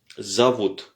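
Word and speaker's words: зовут: comme ça qu'on dit et pourquoi le za et avec un o c'est juste que l'accent est sur le vous donc zavot zavot zavot alors min zavot minvut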